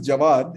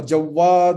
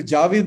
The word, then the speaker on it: Javad: faced the same problem my name is javad it's pronounced people calling me javad or jawad or whatever i can bear but when people change it totally to javi this something that you